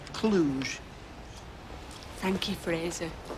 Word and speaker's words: Cluj: a footballer playing for cfr clutch uh i believe that's pronounced cluj thank you frasier it's